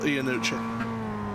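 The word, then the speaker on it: Iannucci: class team poto gppi ianucci inci there in the first place machine I only know how to pronounce that because of the guy who created vep is called Armando ianucci vep vep you know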